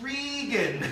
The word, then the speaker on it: Regan: But her name is Regan.